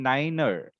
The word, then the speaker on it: niner: 7, 8, and then niner. 9 is the only number which we pronounce differently in order to avoid any confusion.